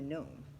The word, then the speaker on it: gnome: the way I'm a gnome say it with me no it's spelled oh but don't ask me why the G is silent because I have no